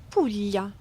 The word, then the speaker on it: Puglia: Pulya is often mispronounced, but such a beautiful region in the boot of Italy. Pula.